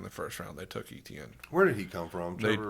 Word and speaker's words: Etienne: Etney. I don't think it's pronounced Etney. Jacksonville's running back. Dude has- Etienne. Etienne.